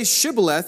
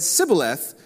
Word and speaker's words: Shibboleth: But so they said, "Say Shibboleth," and they said Sibboleth, for they could not pronounce it right.